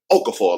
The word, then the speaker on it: Okafor: past the Chris Okafor you got to say it like that Okafor like you just like you bout to throw up the general overseer general